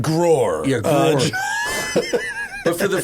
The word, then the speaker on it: G-Roar: The other thing the G580 has, which is funny, it's called G-Roar. And so it's for the first time. Yeah, well, they're German. But for the first time, pronounced Grohr.